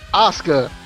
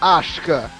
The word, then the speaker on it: Asuka: Justin, speaking of butchering her name, it's pronounced Asuka, not Ashka.